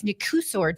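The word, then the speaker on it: Nicușor: I think it's Nkusor Dan is how you say his first name.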